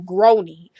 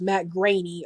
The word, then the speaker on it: Groening: I was about to call his last name brownie so um I'm so glad I actually went